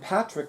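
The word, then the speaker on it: Padraic: husband Patrick Sutton and Patrick is spelled the Gaelic way capital P is in Paul a d as in Dom excuse me Diaz and Donald r-a-i-c as in Charles and she mentions her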